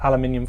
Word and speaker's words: aluminium: with a bit of aluminium foil or as you americans say aluminum um this kind of